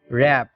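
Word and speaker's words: wrap: Rules number 23, শব্দে ডাব্লু আর এর উচ্চারণ হয় র। এখানে ডাব্লু অনুচ্চারিত থাকে।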